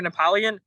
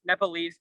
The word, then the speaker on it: Nepalese: i'm half nepalese american people keep saying you're napoleon well previously i thought it was just because they just couldn't pronounce it correctly well i truly while